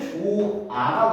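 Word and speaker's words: 좋아: 모르겠어 해볼까요 다음에 여러분 주하라고 발음하는 사람 있어 없습니다 요거는 조아가 되고요 얘는 좋고 좋고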